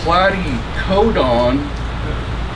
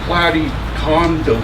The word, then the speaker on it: platycodon: Paul, it's platycodon, not platycondom.